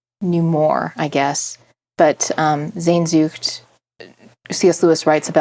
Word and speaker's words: Sehnsucht: His wife is German, and she taught me how to say it. Okay. And I don't know that I have the guttural strength for it, but it's Sehnsucht. Sehnsucht.